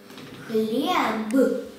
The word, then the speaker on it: хлеб: Ну, что как хлеб и суп. Хлеб, суп. Ну что, померили. Когда произносим хлеб, слышим «п», а пишем «б».